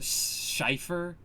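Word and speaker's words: Cifer: number four you have ukiora shifer which it's pronounced Schiffer but it's c-i-f-e-r so that is clearly a German pronunciation yes and then number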